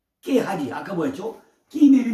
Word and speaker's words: 게하시: 바로 게하시인데 히브리어 발음은요 깨하지 아까 뭐였죠?